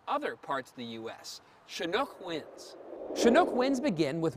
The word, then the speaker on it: Chinook: across the Rocky Mountains pronounced as shinook to described Downs slope